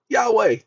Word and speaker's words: Yahweh: in all capital letters this is the Hebrew pronunciation of God's name Yahweh that's the Hebrew pronunciation